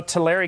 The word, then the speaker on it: Tulare: really unfortunate you know Tulare County is how it's pronounced actually but the Tulare County